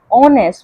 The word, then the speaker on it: honest: Okay, whenever there is a vowel sound like after H there is O, so the we do not pronounce H, we pronounce it as honest.